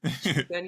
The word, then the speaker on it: Shippuden: Shippuden. I can't remember how to pronounce it, but That's how you pronounce it. Shippuden, yeah.